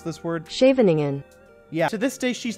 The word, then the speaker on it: Scheveningen: Google, how do I pronounce this word? Scheveningen.